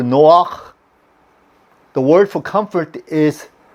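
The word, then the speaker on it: נֹחַ: Noah, okay, is pronounced in Hebrew Noach.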